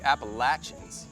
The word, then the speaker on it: Appalachian: Every time we're back in the Appalachians, I like to take a deep breath and take it all in. Nice. Going with the local pronunciation.